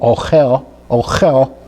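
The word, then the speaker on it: אוכל: that means food, and that's spelled with an aleph and a vav that gives us the o sound, and then we have the kaf that gives us the chaf sound, ochel, and then followed by the lamed.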